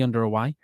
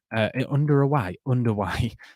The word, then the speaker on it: underway: But second half is nearly underway. Underway, not under away. I don't know why I said that. Underway. That's how you say it.